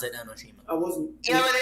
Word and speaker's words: Enoshima: Junko Enoshima. Nick. Gosh That dang doesn't it. scare me at all. I mean, Junko Enoshima's already dead. It's Enoshima. Pretty sure it's Enoshima.